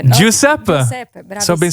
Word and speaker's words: Giuseppe: So but you should say Giuseppe. No? Giuseppe.